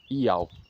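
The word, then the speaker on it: Ιαώ: Para cumprir as profecias de Daniel no pergaminho 4Q 120 de Levítico a pronúncia do tetragrama em grego era Iao.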